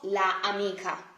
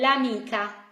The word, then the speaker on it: l'amica: For example, amica, so it's the feminine of amico, becomes l'amica, not la amica. That doesn't sound nice, not at all Italian. This is gonna be l'amica, l'amica, le amiche.